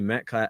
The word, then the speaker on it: Metcalf: tall as hell, but it's like in DK Metcalf, how do you say his last name?